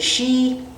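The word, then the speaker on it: Sidhe: today is called the tarot of the shei which is spelled s DHE e which one if you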